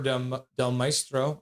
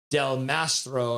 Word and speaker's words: Del Mastro: On the board, Chicago skates back to the blue line, puts it back for Del Maestro or oh crap! What I'm saying his name wrong. Del Mastro, and a shot to the front of that.